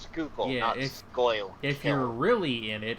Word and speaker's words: Schuylkill: if you're really that Schuylkill is pronounced scoop scale if they're really in